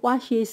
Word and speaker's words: washes: ch j，在第三人称单数 he she it 的现在简单式，要加 es 读作 its。Joe washes the car every Sunday。Joe 是第三人称单数 he，他的动词 wash